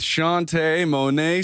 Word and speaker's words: Shaunte' Monet: show we are in the stew with shantae monet smith we are here yes he got the